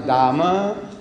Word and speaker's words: Dame: They pronounce Dama and H-E-R-E.